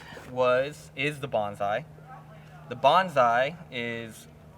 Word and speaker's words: Bonsai: the next disc was is the bonsai the bonsai is how you say the bigger brother to